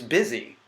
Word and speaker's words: busy: bus II know it's busy which rhymes with dizzy which has an entirely